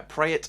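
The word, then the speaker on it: Praet: to pereira and dennis pratt both uh pray it i think you pronounce that rather than pratt pray it both with a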